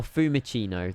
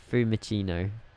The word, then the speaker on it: Fiumicino: Oh, Fiumicino. There you go. Fiumicino. Bit better pronunciation, isn't it?